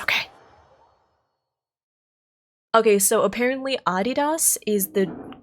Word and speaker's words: Adidas: Adidas?